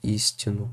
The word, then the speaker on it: истину: А здесь истину. Здесь ударение прямо на первый слог.